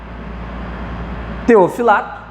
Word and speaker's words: Teofilacto: Que são, deixa eu pegar aqui, que são Teofilato, tá bom? Teofilacto, se escreve Teofilacto, né? Mas é Teofilato, e Santo Hilário, tá bom?